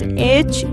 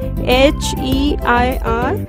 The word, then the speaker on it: heir: The correct option is heir. In this, h is silent, so we'll say it as air.